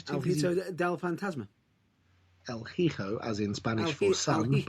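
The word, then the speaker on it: Hijo: about del fantasma el hico as in spanish for sal okay yes it's a j it's pronounced as an h because spanish doesn't really have j's let's move on because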